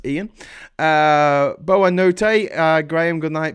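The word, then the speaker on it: boa noite: Whiplash says Ian uh boa Notte uh Graham good night Portuguese pronounced boa Noche no shit yeah because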